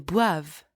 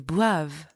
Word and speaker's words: boivent: Ils boivent. They drink, masculine. Ils boivent. Elles boivent. They drink, feminine. Elles boivent. And don't pronounce the ENT. At the end of a conjugated verb, ENT is silent.